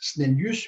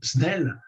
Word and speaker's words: Snellius: Alors, c'est à Descartes, conjointement d'ailleurs avec un physicien néerlandais qui s'appelait Snellius, ça s'écrit S-N-E-2-L-I-U-S, Snellius, mais on dit aussi Snell, c'est donc, non pas